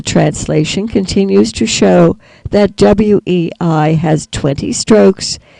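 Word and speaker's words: 巍: continues to show that Wei has 20 Strokes is in the first tone and therefore is pronounced way and is translated as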